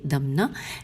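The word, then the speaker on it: دمنہ: دمنا ہجے کرتے ہیں، کاف لام یہ لام ہے و دال میم نون ہے دمنا.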